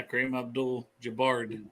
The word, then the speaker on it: Kareem Abdul-Jabbar: Yeah, Kareem Abdul-Jabbar.